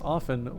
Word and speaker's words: often: only other person who pronounce often with the uh T which is decidedly correct although I guess I